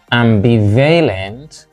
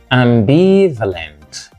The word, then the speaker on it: ambivalent: all right and here we have not ambivalent but ambivalent ambivalent ambivalent means uncertain about what decision to take as if in a quandry as if confused ambivalent limping upon two opinions limping on two opinions so ambivalent second syllable here we have not